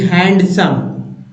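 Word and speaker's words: handsome: ये सब रखिए जैसे एच ए एन डी हैंडसम पहले लोग ऐसे ही पढ़ते थे अभी भी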